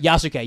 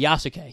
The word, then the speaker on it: Yasuke: community I think it's all Yuki if I'm pronouncing that right yuk yasuke yasuke yeah there we go yasuke um we're Qui